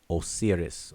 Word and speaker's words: Osiris: Or O, that W becomes O, and that's how the Greeks pronounce it. O-sir. And then they put the us or is, Osiris or Osiris.